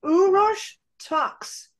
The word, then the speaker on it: Uros Taks: I'm here with the beautiful his name is pronounced uros tox he lives in um Europe and he is